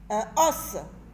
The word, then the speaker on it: un os: Un os. On fait la liaison, on dit un os.